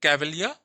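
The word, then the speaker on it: Cavalier: ऑफ बन या फिर कवलिया आर साइलेंट है कवलिया पोट्स ट्राइब ऑफ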